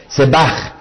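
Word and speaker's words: zevach: no es el vocablo se va con z y tal cual la pronunció z e b aj que vendría a ser sabe Beth Y Head sebach dice si su ofrenda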